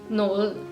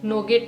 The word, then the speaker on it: noget: And lastly N ओ जी ई टी नोल। इसमें जो ये टी का साउंड है आपको सॉफ्ट डी की तरह इसको प्रोनाउंस करना है। तो आप कहेंगे नोजेट नोगेट नहीं कहना है। इसको कहेंगे आप नोल नोल।